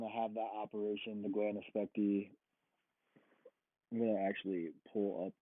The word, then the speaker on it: glandulopexy: if I want to have that operation, the glandopexy. I'm gonna actually pull up my notes to see if I'm pronouncing that correctly. And that he can do it if needed. And basically, glandulopexy, glandulopexy is how you pronounce it.